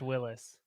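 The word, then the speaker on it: Willys: it is really pronounced his his name was pronounced willis yeah but it said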